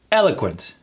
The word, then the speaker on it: eloquent: Emphasis on that first syllable. Eloquent. able to express ideas clearly and effectively. And again, that T gone.